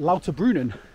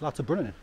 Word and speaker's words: Lauterbrunnen: cuz I was pronouncing it wrong I was pronouncing it l brunin it's l brunin but yeah nestled right in the Swiss up